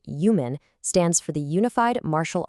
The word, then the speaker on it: UMAN: That's pronounced human stands for the Unified Martial Arts Network.